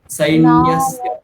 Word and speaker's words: सैन्यस्य: পুরোটাই ঠিক বলছেন, কিন্তু এই জায়গাটায় গিয়ে প্রত্যেকবার বেঁধে যাচ্ছে, সই বলে দিচ্ছেন, ছয় বয় ঐকার বলে দিচ্ছেন, ছয় বয় নেই এখানে, স্পষ্ট সা সি সু সে সই, সই সই নয়, সই, সৈন্যস্য। नायका मम सैन्यस्य হ্যাঁ, संज्ञार्थं तान् ब्रवीमि ते।